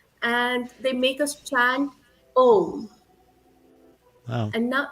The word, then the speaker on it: Om: So the first syllable is second syllable is oo, and the last syllable is humming sound of bees.